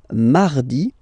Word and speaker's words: mardi: So you can hear that you don't pronounce it that strongly, this R. Hein? Mardi, mardi. Okay, you don't need to go too deep like mardi. No, no, no. You don't move your tongue, so it doesn't sound like mardi.